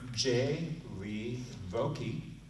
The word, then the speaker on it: Jaye Vocque: And then we have Jaye Vocque. Oh, you pronounced it right.